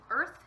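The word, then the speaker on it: Urth: to you, is from Earth Yarns. And Earth is spelled U-R-T-H, but it is kind of a play on Earth, like our planet.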